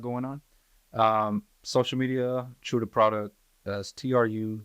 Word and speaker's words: Tru Da Produk: on um social media true the product as TR Ru d a p r o d u k it's spelled a little different so it looks like product but uh that's how